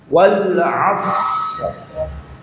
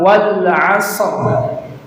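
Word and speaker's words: والعصر: Wal as bukan wal asr. Kalau dibaca wal asr berarti shadnya dikasih harakat e.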